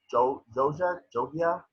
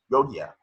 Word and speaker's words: Jogia: Avon Jogia, the guy from Victoria. Huh? Yogia.